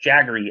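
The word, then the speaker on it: Jagari: Chandra his nickname is jaggery uh it's spelled j-a-g-a-r-i but spell or pronounced jaggery as in he was a big fan of Mick Jagger yeah I'd like to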